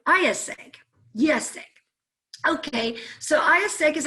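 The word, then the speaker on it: IÉSEG: how to say it you just think of yes as in the opposite of no and egg so yes egg so that's how you say ayaseg yes okay so ayahuasca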